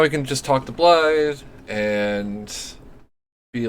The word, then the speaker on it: Blythe: Blythe is apparently, or Blythe, as it's pronounced, is apparently Welsh for wolf, so his name is just Wolf the half-wolf, which I think is fucking hilarious.